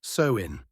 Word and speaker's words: Samhain: They celebrated a festival called Samhain, pronounced Samhain.